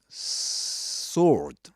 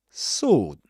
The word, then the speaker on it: sword: English um that'll be sword. Sword right sword. this long o sound without pronouncing the w. You don't say sword but sword. Sword.